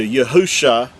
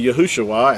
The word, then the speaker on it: Yahusha: spelled with 5 letters, which translates into Yahusha, and that's the original text. Now again, with vowel points, it's going to say Yahushua, and that's because they